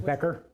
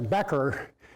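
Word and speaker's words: bechor: in parentheses here is the word becker that is that the proper pronunciation matt is becker b-e-c-h-o-r becker and that uh that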